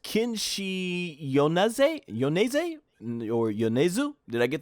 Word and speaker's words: Yonezu: So we got a new opening, Peace Sign by, I think this is pronounced Kenshi Yonezu? Or Yonezu? Did I get that right? Yonezu.